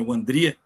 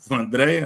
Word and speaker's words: Wandria: O nome dela, na verdade, é Wandria, que aqui no Brasil ficou Vandréia, né? Que é mais fácil. Sim. Mas o Google sabe pronunciar direitinho.